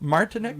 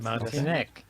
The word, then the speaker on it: Martinek: This is Martinek. Did I say it right? Yes, you did. Martinek.